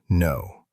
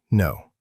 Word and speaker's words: know: The word no. We write a K at the start, but we don't say it. It's silent. We just say no, no.